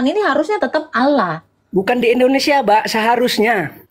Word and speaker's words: Allah: Allah. O kan bukan A kan. Allah. Anda enggak bacanya A. O.